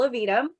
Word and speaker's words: Aevidum: roll out this year it's pronounced little of edam and we have a